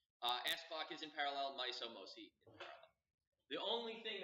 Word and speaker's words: MOSI: So the common lines are MISO, MOSI, and S-clock. And that's how you pronounce them. MISO, MOSI, S-clock.